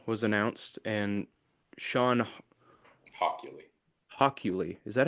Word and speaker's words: Hockley: Hockley, is that how you say it?